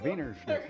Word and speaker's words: Wiener Schnitzel: Wiener Wiener Schnitzel.